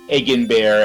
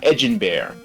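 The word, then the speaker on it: Edinbear: Uh the uh uh this the castle town of Egen bear as I called it as a child is actually intended to be pronounced uh Eden Bear.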